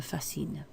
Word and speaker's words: fascinent: Because it's planes in the plural, that's why you've got this written in the ENT, even though it's not pronounced. Les avions me fascinent.